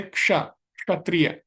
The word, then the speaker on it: क्षत्रिय: हम गलती करते हैं श में कई लोग क्या बोलते हैं छ बोलते हैं इसको जैसे क्षत्रिय तो कई लोग क्या बोलते हैं क्षत्रिय है ना तो क्षत्रिय नहीं है क्ष है ठीक है तो यहां पे